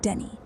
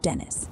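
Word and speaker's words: Saint Denis: It's St. Dennis, pronounced Denny, not Dennis.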